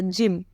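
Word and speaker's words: gym: तो आपको पता होगा जिम का स्पेलिंग क्या होता है जी वाई एम होता है तो जी के बाद क्या आ रहा है वाई आ रहा है तो इसका प्रोनंसिएशन क्या निकल कर आएगा ज निकल कर आएगा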